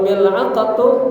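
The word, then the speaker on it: ملعقة: Cara bacanya mil'aqa itu bi kasril mim, huruf mimnya dibaca kasrah, maka mi. Wa sukunil lam, lamnya disukunkan mil, ya. Wa fathil ain, ainnya dibaca fathah, jadi mil'a, baca mil'aqa, artinya sendok.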